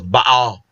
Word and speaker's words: Baal: Actually, the proper pronunciation of Baal is Baal.